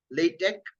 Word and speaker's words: LaTeX: LaTeX also is there, but for literature people, LaTeX, it is not X, but K sound is there. LaTeX is how it is pronounced. LaTeX is, if you want